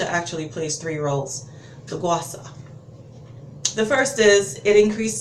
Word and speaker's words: Gua Sha: so this is the Gua Sha, it's actually pronounced Gua Sha, but I'm so inclined to say Gua Sha, so forgive me if you hear me say that throughout the video. But it's pronounced Gua Sha, and it is the stone versus the roller,